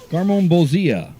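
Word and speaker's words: Garmonbozia: garmon Bia is how you say it yeah garmon Bia all right well yes this bowl is we're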